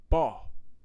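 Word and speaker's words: boy: Anybody from Louisiana knows we don't pronounce the word B-O-Y. We pronounce it baw.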